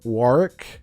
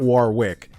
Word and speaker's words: Warwick: You pronounce his name Warick. The Oh, Warick. Not Warwick. The second W is silent.